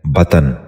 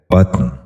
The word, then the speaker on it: بطن: غور سے سنیے، بلند۔ دوسرا لفظ ہے بطن۔ یہ غلط تلفظ ہے، اس لفظ کا درست تلفظ ہے بطن۔ دوبارہ سنیے، بطن۔ بچوں